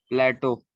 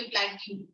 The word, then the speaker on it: plateau: प्लेटो. हाँ, गुड. वो पता है. Good, you didn't say प्लेट्यू. तेरा फ्रेंड प्लेट्यू बोल रहा है.